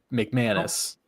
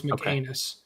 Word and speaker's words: McCannis: I I thought I I didn't know if you were just gonna go McManis. That's not his name. His name is McCannis.